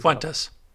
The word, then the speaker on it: Fuentes: How do you pronounce it? Fuentes? What's his name? Fuentes.